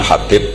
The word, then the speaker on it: Habib: yang nulis Abi Abdurrahman Habib asulami itu diakatnya kitab itu ada yang nulis hub yang benar Oh ngih yang benar itu bacanya habib habib itu asulami itu ikut